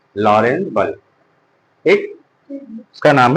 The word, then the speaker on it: Lorentz: बल का नाम है लॉरेंज बल। ठीक? इसका नाम है लॉरेंज बल। लॉरेंज बल। Force on moving charge in a uniform magnetic field या लॉरेंज फोर्स। यहां पे टी साइलेंट है।